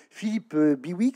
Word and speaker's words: Philippe Bihouix: Alors, Philippe Biwix, c'est comme ça qu'on prononce.